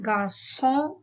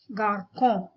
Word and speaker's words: garçon: The letter C is uttered as ka, but when you put an accent underneath it, then it is pronounced as sir. The accent under the letter C is called a cedilla C. So garçon is garçon and not garcon.